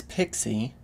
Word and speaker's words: PXE: but first some basics this is often pronounced as pixie it's a specification that